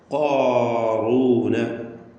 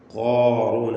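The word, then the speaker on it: قارون: ഖാറൂന, ഖാറൂന, അത് കാഫിലേക്ക് അടുത്ത് പോകരുത്.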